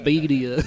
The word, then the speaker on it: birria: Birria. Oh, birria. Yeah. Birria. Okay. Yeah. I didn't roll my R's. I just didn't catch it. Well, it sounds different. Birria. You gotta roll your R's, man.